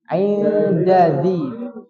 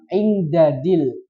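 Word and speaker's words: عند ذي: Nah, perhatikan juga ini indadzi, dadzi. Nah, da dulu baru da. Indadzi. Nah, karena enaknya da semua, indadil. Gitu kan? Indadzi yang betul.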